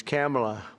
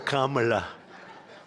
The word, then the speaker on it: Kamala: It's Cam, right? Cam, as opposed to Calm.